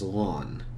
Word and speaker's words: ln: natural of X again this is simply read by phonetically you're saying you sweater Ln of X or I've also heard it referred to as lon of X so here in example